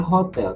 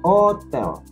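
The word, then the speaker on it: hôtel: tidak diucapkan jadi seperti Hotel ini bukan dibaca Hotel tapi dibaca Otel karena huruf H tidak disebutkan atau tidak diucapkan maka yang keluar pengucapannya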